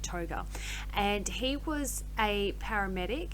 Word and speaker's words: Tougher: It looks like it says Tougher, but I believe that they pronounce it Toga.